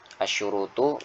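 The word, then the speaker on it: الشروط: Asyurutu jam'u syartin, bacanya gitu ya.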